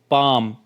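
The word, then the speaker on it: palm: बोलने हैं जैसे वॉक पाम काफ अब यहां पर देखिए we sorry W ए एल के यहां पे एल जो है वो साइलेंट है प ए एल एम में एल साइलेंट है और सी ए एल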